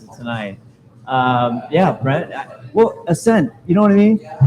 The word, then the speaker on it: Aysnd: Aysnd is spelled A-Y. Aysnd. Did I say it wrong? A-Y-S-N-D. No, you said it perfectly.